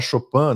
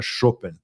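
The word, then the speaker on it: Chopin: que o que o que todo mundo fala chopan né achando que que ele era mais francês mas ele era ele se considerava mais polonês né então a pronúncia Correta que ele preferia era chopen e aquele áudio que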